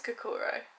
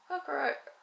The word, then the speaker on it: Kokoro: and we ordered a, I don't know how you pronounce it, Kokoro? Kokoro? I think it's Kokoro.